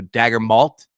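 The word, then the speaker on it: Daigneault: Mark dagn not's name dag as in dagger as in Chris ball hit so many dagger shots for OKC last season KN rhymes with malt as in Whoppers malted milk balls or a thick delicious chocolate malt okay I'm going to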